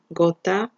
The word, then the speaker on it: gota: So we have GA, GO, or GU, that would be go, like in the word gato, in the word gota, gato is cat, gota is drop, or in the word gusano, worm.